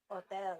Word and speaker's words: hotel: Hotel. Hotel. Hotel. Remember the H is silent.